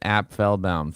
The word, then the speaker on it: Apfelbaum: you totally nailed it app fell bound three syllables and by the way